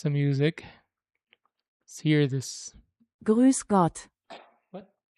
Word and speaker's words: Grüß Gott: Grüß Gott. What? Grüß Gott. That's an S. Grüß Gott.